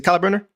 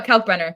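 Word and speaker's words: Kalkbrenner: Is it Kyle Brener? Uh Cal Brener. Yeah. Coburner.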